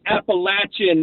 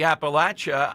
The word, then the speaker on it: Appalachia: And the difference is the third A is a short A, not a long A.